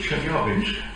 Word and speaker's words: Chelyabinsk: The thing that hit Chelyabinsk, as I'm told by a Russian speaker, I should pronounce it, in February, a few years ago, was the size of a house, about 17 metres.